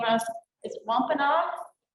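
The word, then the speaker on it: Wampanoag: Tell me how to pronounce the name of, is it wampanaug? Wampanaug is fine, yes, yes. Some of our elders say it differently over the times, but Wampanaug is absolutely works, yes.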